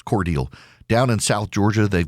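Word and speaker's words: Cordele: It's Cordel. It's Cordel. Down in South Georgia, they've got Unadilla. They have Vienna, but it's pronounced Vienna.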